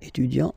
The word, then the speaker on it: étudiant: Okay, so for instance here we've got étudiant, and then we've got assistant here. Okay, you just take it back here, étudiant, and then you will add this a at the end without modifying the first part.